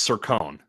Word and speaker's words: Cercone: coin you were close it's circone it's a corn so I added kind of like almost like a y instead of just a corn well I would assume